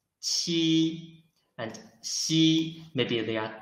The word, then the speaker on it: qi: Ji, and this qi, when we read qi, its pronunciation is the same as ji, but it blocks the airflow in the mouth first, and then releases the block. Qi.